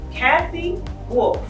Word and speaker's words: Cathy Wolfe: Hi, we are here in the show, In the Mix, with Miss Cathy Wolfe. Did I pronounce that right?